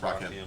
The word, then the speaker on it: Rakim: It's pronounced Rakim.